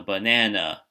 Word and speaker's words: banana: say louder is what we call the stressed syllable, or the one with the accent to it. So banana, so na and banana, so banana, sorry, is the stressed syllable.